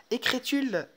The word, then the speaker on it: écrit-il: Écrit-il une lettre? Pardon. D'accord? Donc, dans ce cas, il n'y a aucun problème. Il y a seulement un verbe qui se termine par T. Donc, ça se prononce T, c'est-à-dire il, bien, écrit-il une lettre.